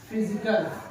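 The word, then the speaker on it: physical: पीएच का sound फ, क्या बनता है? फ, फ साउंड।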